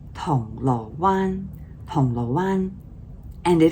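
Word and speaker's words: 銅鑼灣: But for now, it should be correctly Tong Lo Wan, Tong Lo Wan.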